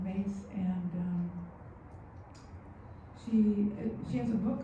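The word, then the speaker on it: Myss: Mace. I keep pronouncing that wrong. Mace, and she has a book called Sacred Contracts.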